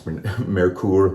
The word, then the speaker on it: Merkur: really bored by the merker uh i don't know that's merkur metcool i'm going to say merker because that's you know dumb americans get to pronounce things however they want i guess and i'm a